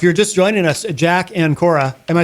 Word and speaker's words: Ancora: Uh if you're just joining us Jack and Kora.